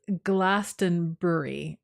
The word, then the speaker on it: Glastonbury: that's important um it's Glastonbury okay so I thought that it wasn't Brewery I thought it was brie even though it's spelled Brewery but it's Glastonbury okay I can do